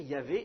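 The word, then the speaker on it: Yahvé: dans des noms propres nous par convention on prononce Yav quelque chose comme ça mais c'est c'est une convention c'est peut-être la prononciation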